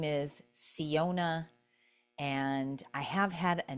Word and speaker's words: Syona: So, Siona, it's spelled Syona, and it's pronounced C as in SEE, seeing ONA.